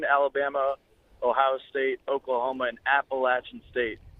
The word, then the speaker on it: Appalachian: ohio state oklahoma and appalachian state not appalachian state appalachian state don't say it wrong but they have three